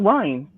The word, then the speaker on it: Ryne: Like, it's just Ryan, like a Ryan. orange Ryan. Yeah, no D, just Ryan.